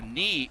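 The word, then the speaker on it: Nii: Like I said, the safety, it's Nye Cordy. That's how you pronounce his first name. It's N-I-I, Nye Cordy.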